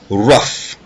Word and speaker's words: rough: Rough, le son OU ici est prononcé comme un A, rough.